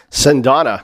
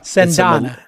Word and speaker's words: Cendana: He runs something called Cendana? How do you pronounce it? Cendana. Cendana. It's a Malaysian word for sandalwood. Sandalwood, Cendana.